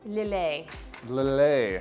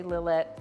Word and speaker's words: Lillet: louder it's a spritz how do you say that first word lily it's spelled l-i-l-l-e-t it is a french word and we're going to be doing a little a a little a spritz some you'll hear some people say lillette spritz but if you're trying